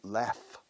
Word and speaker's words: laugh: Pero se pronuncia laugh. Como L-A-F, como si fuera L-A-F.